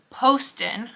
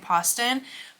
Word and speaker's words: Poston: national holiday because Ashley Poston I know I've been sitting here last last name wrong my entire life I've been saying poson Poston is how like the audio books say it her new release a